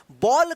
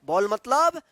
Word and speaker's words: ball: तो अब आपको मालूम चल गया कि जब भी किसी वर्ड में ए के बाद एल या डबल एल रहता है तो उस ए का औ उच्चारण होता है, ठीक है ना।